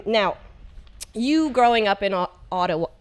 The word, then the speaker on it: Ottawa: So now, you growing up in Ottawa. Say it again. Ottawa. Ottawa. Yeah. I'm really having a problem. Odawa is the native pronunciation, I think, though. Like the original Odawa.